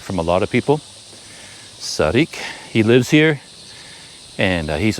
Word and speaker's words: Sariak: he said it's called Sarik. But the lettering is S-A-R-I-A-K, so I've been saying Sariak, but apparently it's pronounced Sarik. I hear that from a lot of people. Sarik.